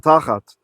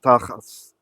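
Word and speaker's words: תחת: So it's from tachat, which in Ashkenazi Hebrew is pronounced tachas.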